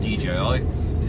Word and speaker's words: DJI: But on a side note, I've got my Digi back. Yeah, I know it's not how you say it, it's DJI, but I'm calling it Digi.